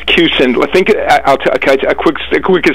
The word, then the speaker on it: Kussin: consensus oh my correct my pronunciation of your last name if it's wrong I'm saying kusen am I right ah cuson think I'll a quick